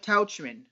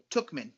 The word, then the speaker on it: Tauchman: We got Aaron Judge, Brett Gardner, Giancarlo Stanton, and Mike Tauchman. Tookman. I'm sorry. I should have looked at your little pronunciation there.